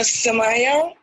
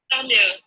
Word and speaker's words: Samya: Good afternoon, Samaya. Have I pronounced your name right? Samya. Samya, amazing, amazing.